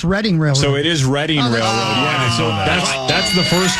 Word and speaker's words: Reading Railroad: to say it's reading railroad so it is reading railroad yeah that's that's the first clue about it being famously mispronounced I've always thought it was reading railroad I guess it is technically reading railroad no